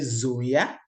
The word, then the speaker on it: Sonja: I said Sonja. So you think, oh, Yeah. is letter S Z?